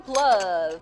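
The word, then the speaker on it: plov: sweet just like me time for PL which rhymes with love look at the fluffiness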